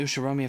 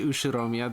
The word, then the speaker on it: Ushiromiya: while everyone in the usharomia family ushiomia oh did we add an r in there it should be ushiromiya there's a missing letter